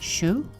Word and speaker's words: choux: be made out of choux pastry and it's pronounced Xiu like blue blue suede shoes so in a